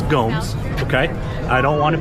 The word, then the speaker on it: Gomes: Gomez, would you like to face law? Three bars. Yes, sir. Please stop mispronouncing my name. It's Gomes.